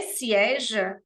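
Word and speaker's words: sièges: Se eu falo se sieja, eu estou falando estas poltronas, porque o S no final de sieja é mudo, a gente só vê mesmo se a palavra estiver escrita.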